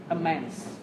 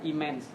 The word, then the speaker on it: immense: Và nhớ đây chúng ta xoa âm nào các bạn? Âm đầu. Thế là các bạn nghe chỉ như là immense, đúng không? Đấy. Không đọc là immense, immense.